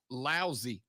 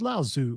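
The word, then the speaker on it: Laozi: to li lousy lousy it's lao zoo man it's two oh it's the same person it's just a different different way of pronouncing it yeah i believe it's it's lao and then tz yeah yeah so there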